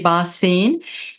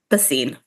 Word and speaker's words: Bine: correct pronunciation it's Bine okay okay so bin was that correct yeah that's correct and then the first